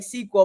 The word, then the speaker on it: SQL: how to pronounce it so you heard me saying sequel but there seems to be a little bit of like debate on how it should be said and so technically a sql sql it stands for